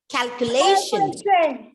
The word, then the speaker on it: calculation: See, you know, this syllable has to be stressed, second last. So how do you pronounce this? Calculation.